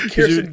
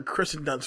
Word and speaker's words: Kirsten Dunst: And it's crazy, like, say like Kirsten Dunst. Because you met her. Oh, yeah, she's dope. Now, like Kirsten Dunst, I was calling her Kristen Dunst for ever.